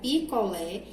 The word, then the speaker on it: picolé: observe que a palavra picolé recebe o acento agudo na sua última letra na sua última sílaba que é a local